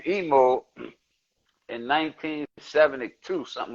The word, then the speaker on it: Imo: uh uh African names emo is for Swahili that's why I spell IMO but it's pronounced e-m-o because it's Swahili that I sound like